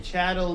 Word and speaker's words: chattel: trade euro-american chattel slavery chattel means cattle rhymes with cattle chattel is a former